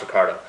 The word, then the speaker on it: Ricciardo: ricciardo ricardo ricardo ricardo okay let's recard it's pronounced ricardo yeah fantastic race by that youngster 10th place